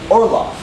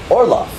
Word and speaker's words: Orlov: Orlov. Orlov. There's an or, an O-R, and an L-O-F-F. A lof, right? It's kind of like laugh, but not spelled like laugh at all.